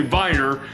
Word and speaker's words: Wiener: a viner which is spelled like it looks like wiener if you look at it but in german it's actually viner but it's a darker